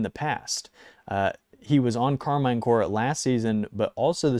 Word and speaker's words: Karmine Corp: If you say Karmine Corp, fair play. Go for it. I say Core because it's like Peace Corps, Karmine Corp. It rolls off the tongue better.